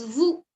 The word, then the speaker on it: vous: Same way, the plural you is pronounced as vous. Vous.